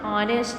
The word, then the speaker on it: honest: When I say honest, so here h is present, but when I pronounce it honest, not honest.